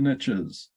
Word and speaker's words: niche: somebody talking about your niche before the riches are in the niches yes or niche as the americans say niche target market i prefer niche because i think it is french word yes i like the